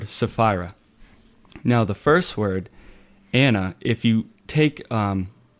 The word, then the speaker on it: Anna: But when with the English, um you know, they drop the ch and it's anna.